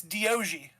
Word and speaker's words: Doggie: Nope, it's Diogi.